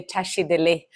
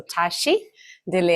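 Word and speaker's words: བཀྲ་ཤིས་བདེ་ལེགས: So first of all, usually we Tibetans, our greetings, right, is to say tashi dele. So in Tibetan, there are 2 words with 4 syllables. So tashi dele. And what means tashi dele?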